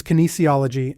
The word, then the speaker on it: kinesiology: K kinology kology kology the correct pronunciation is kinesiology and I doubt it's